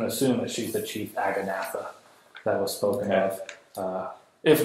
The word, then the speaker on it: Aganatha: Aganatha. That's actually how it's pronounced. That's right. There's certain guttural terms that just don't come across in common as well as they do in Dwarvish.